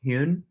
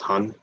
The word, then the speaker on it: Hyun: i really think uh my last name is pronounced hun shut my screen can